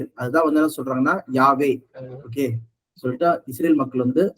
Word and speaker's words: Yahweh: அதனாலதான் இங்க NIV பைபிள்ல வந்து பாத்தீங்கன்னா இந்த V சொல்றது வந்து W சொல்லி ப்ரொனவுன்ஸ் பண்ணுவாங்க ஆக்சுவலா. அதனாலதான் YHWH சொல்லிட்டு. ஓகே, இதுதான் நம்ம என்ன பண்றோம்னா ரெண்டு பபல்ஸ் சேர்க்கிறாங்க ப்ரொனவுன்ஸ் பண்றதுக்காக. இங்க YA சேர்க்கிறாங்க, W அப்புறம் E சேர்க்கிறாங்க. E சேர்த்து யாவே, அப்ப ப்ரொனவுன்ஸ் பண்ண முடியுது, யாவே சொல்லி பேர் வருது.